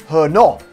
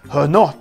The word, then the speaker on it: Herno: know old Tom gin or as I suspected it's pronounced because it's a little accent there I might be wrong but I think it is her not her not gin we sounds a little bit French which is disappointing because